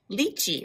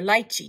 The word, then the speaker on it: lychee: shape 2000 mangosteen 2008 lychee or lychee depending on how you say it 2015.